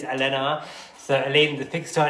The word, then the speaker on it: Alhena: Let me just check I'm saying that properly, because yeah, let me just spell it out. Yeah, it's Alhena.